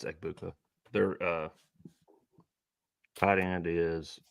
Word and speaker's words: Egbuka: their main three receivers is it egbuka is that how you pronounce it yeah it's egbuka they're uh tight end